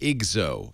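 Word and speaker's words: IGZO: $10 word I like saying that and it's pronounced iGo is that right yeah so the idea of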